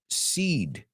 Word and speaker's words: cede: And how do we pronounce that one? Seed. So I'm going to say, tienes que ceder tus semillas. You have to seed your seeds. Do they sound the same? Absolutely.